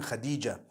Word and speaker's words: Khadija: I came across the name Khadija. In Turkish, some people spell it Hatice. I would say Hatis for that. No, it's actually Khadija.